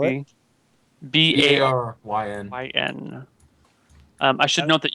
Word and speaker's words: Baryn: The next 2 days go uneventfully, and you get to Barron. Barron is again a small town located on the side of one of these fjords. Population 600, maybe. Can you spell it? B-A-R-Y-N.